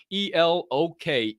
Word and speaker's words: Elok: Oh, Elok the orangutan has an NFT. That's right. I told you, Elok the orangutan. That is spelled like Elon, but with a K. E-L-O-K.